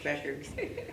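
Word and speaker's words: Bueckers: Yes, Beckers.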